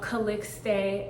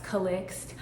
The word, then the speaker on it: Calixte: founder, creator, HBIC of Calixte Activewear. Also, it can be pronounced as Calixte. I will use that interchangeably.